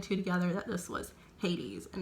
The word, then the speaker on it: Hades: and i realized that i have been pronouncing hades wrong i was pronouncing it hates so if you watch